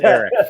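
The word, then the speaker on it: Elic: He like, "It spelled E L I C, but it's pronounced Eric."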